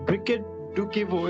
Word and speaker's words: Briquette Dukivu: me yes i can hear you so uh briquette do kevo is that how we pronounce it yes yes fantastic so i